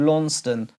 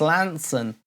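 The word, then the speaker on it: Launceston: few years ago I thought it was called LAN stone but it's Lanson right there where are you going Lantern Lantern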